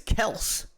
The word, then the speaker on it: Kelce: Travis Kelce, their last name is Kels. Wow. They, as a family, pronounce it Kels.